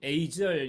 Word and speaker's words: agile: 국가들이 있는데 agile 뭐 영국 발음을 agile이라고 미국에서는 agile 이렇게 발음을 하는데 그것은 뭐 상관이 없을 것 같아요.